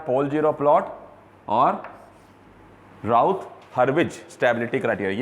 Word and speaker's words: Hurwitz: हर्विज, हर्विज HURWITZ, हर्विज, इट इज विड्ज।